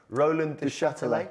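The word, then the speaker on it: Roland Duchâtelet: Roland de Châtelet.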